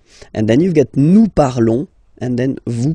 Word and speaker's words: parlons: Nous parlons, okay? Remember, final S is not pronounced, okay? And then this on together, they will give you the sound on, okay? Nous parlons, all right?